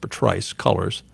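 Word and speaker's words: Patrisse Cullors: thought it was patrice but apparently it's actually pronounced patrice colors she describes herself and her co-founder alicia garza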